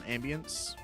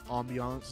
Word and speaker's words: ambiance: uh some effects in some Ambience or Ambiance as I'm told it's supposed to be pronounced video of that pumpkin